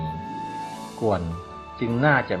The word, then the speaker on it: 觀: ที่ จ่าย ถู สระ ควัน อ่าน ว่า กวน สามารถ มอง เห็น เป็น